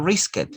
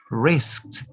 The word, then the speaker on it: risked: that this idi yeah remember that evie that you have here is pronounced with the santa remember this idi is not risk it ah it's not riskett no risked wrist this idi is